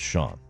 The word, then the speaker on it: Shan: responded to Dan I did say that it's pronounced Sean oh you did I did thank you he